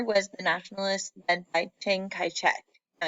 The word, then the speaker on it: Chiang Kai-shek: And the other was the nationalists led by Chiang Kai-shek. Now, I know that name doesn't look like how it's spelled at all, and sometimes it's spelled differently.